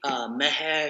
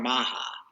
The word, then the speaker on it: Maha: It was my buddy Meha Shami. Everybody called her Maha because that's how it was spelled, but that's not how you pronounce it. It was Meha.